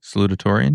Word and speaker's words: salutatorian: Salutatorian, yeah. Salutatorian? Yeah. How do you pronounce it? Like you just did.